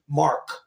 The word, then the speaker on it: marque: You got the nerve to show up with no, I called it a letter of marque, And it's spelled Marque. Mark.